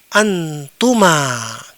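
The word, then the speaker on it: أنتم: Kemudian ini juga dibaca dengan antuma kalian berdua.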